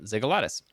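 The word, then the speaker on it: Xygalatas: Uh this is by Demetrius Ziggalatus. I did look up how to pronounce this one. It's X Y G A L A Ts. Uh Ziggalatus.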